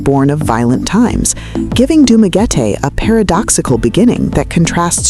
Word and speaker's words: Dumaguete: adapting the pronunciation to what is now Dumaguete, pronounced Dumaguete.